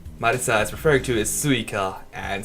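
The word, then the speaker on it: 萃香: The Oni Marisa is referring to is suika, and suika is also the Japanese word for watermelon, although it's written differently, but pronounced the same way.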